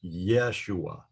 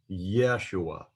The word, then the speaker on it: Yeshua: tsare under it now the temptation for me is to pronounce that like it's an a y sound like yay so in english it would be y a y but in hebrew it's properly pronounced like y e y so the name of jesus in hebrew is not pronounced yeah it is yeshua yeshua so it's kind